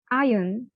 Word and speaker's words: iron: কিন্তু এটা যদি এক্সাক্ট প্রনাউন্সিয়েশনটা আমরা করি, this is আয়রন, আয়রন, নট আয়রন। আয়রন বলছি না, আরটাকে আমি সাইলেন্ট করে দিচ্ছি। আয়রন, iron.